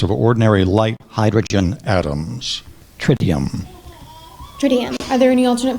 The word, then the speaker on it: tritium: times the mass of ordinary light hydrogen atoms trium trium are there any alternate pronunciations there is uh trium Trum trium tridium t r i t i u